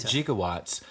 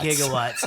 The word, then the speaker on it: gigawatts: was at that and they called it jigawatts and forever I thought it was a madeup word that started with a J right and it's just gigawatts gigawatts yeah yeah he was just saying it wrong yeah I love that